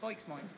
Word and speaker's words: Boikzmoind: It's if you say it phonetically, it's instant Bristolian, just Boikzmoind.